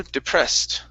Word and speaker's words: depressed: um let's see here the word depressed so the e d ending case will sound like a t on this word there you go depressed okay right all right